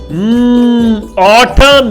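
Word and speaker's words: autumn: अच्छा ये जो आखिर में ये साइलेंट होगा, ठीक है। ऑटम, यस गॉड job, well done जी। ये देखिए यहाँ पे मैंने साउंड कोड डाला लेकिन आखिर में साइलेंट है, ठीक है। तो इसको कहते हैं ऑटम।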